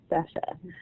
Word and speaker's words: Sacha: Thank you, Sasha, and I'm sorry I was saying your name wrong, so Sasha.